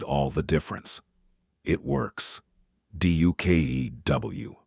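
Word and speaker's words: DUKW: Du kew, pronounced duck.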